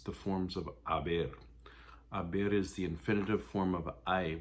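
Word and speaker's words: hay: there are two girls it doesn't matter it stays the same it's i you don't pronounce the h it's just h a y pronounced i the h is silent um you can also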